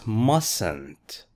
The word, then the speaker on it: mustn't: you say this it's mustn't mustn't which letter is silent it's the T this is not mustn´t